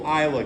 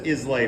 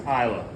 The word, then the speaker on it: Islay: number five is going to be our triple Isa cast looks like it says islay but it's pronounced Isa that one's kind of a scotch Meats B